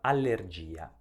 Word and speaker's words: allergia: posso evitare di pronunciarla la stessa cosa succede nella parola allergia e per oggi è